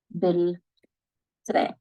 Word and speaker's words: بالترين: That is B plus L train. We pronounce it as bil. Bil train.